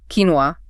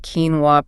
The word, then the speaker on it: quinoa: The quinoa pronunciation is a reflection of the words origins in the indigenous quest language, probably filtered slightly through Spanish on its way to English. So the moment you master that quinoa pronunciation, the confusion just vanishes pretty much.